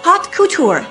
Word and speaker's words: haute couture: She was studying haute couture.